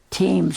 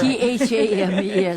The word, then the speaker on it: Thames: That's spelled Thames. It sounds like Thames or something, but it's called... He says it right. He says it right. Thames, the river, the big river that we see.